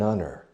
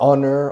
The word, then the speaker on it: honor: So the sound of honest or honor or honorable is the sound of a vowel, although the word starts with a consonant.